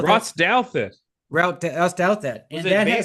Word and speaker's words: Douthat: Douthit? Ross Douthat.